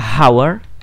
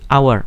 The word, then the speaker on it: hour: dengan kata misalnya our Oh ya ini ada bunyi ada huruf hanya di depan Tetapi dia nggak dibaca hower Dia nggak pernah dibaca Howard dia dibacanya sebagai our maka eh huruf H di depan itu disebut sebagai sanes karena tidak dibaca yang dibaca langsung ke